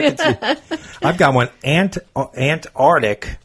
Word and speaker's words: Antarctic: Antarctic instead of Antarctic. Or the Arctic instead of the Arctic. People forget the C.